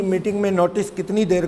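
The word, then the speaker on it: minute: वैसे सेंस ऐसी आती है कि माइन्यूटली सब कुछ लिख लेना, शायद ऐसा ना, ये मिनट ही बोलते हैं इसको।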